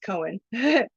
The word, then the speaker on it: Cohen: Cassidy Cohen, it's pronounced Cohen, with Jewish Voice for Peace, Baltimore chapter added,